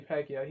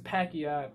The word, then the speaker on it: Pacquiao: yeah because his name his name is pacquiao pat you know what i mean pac p-a-c-q p-a-c-q and p-a-c they have the same pronunciation pac-man and he is